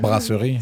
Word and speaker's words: brasserie: Brasserie. Brasserie.